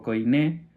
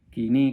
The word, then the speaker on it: koiné: la Septuaginta, en griego koiné, kini creo que le dice, que es la pronunciación correcta, ahora lo veremos en